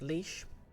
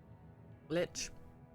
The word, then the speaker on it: lich: um lesson friendly uh neighborhood leash Litch I've had people pronounce it both ways although there's a pattern there's a joke in there Discworld where an undead Spirits described as a latch and someone's crashed the leash or latch yeah I'm rambling now